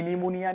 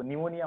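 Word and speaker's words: pneumonia: जैसे निमोनिया का P silent होता है ना, ठीक है, पी साइलेंट होता है, पी निमोनिया नहीं होता है, वो निमोनिया होता है।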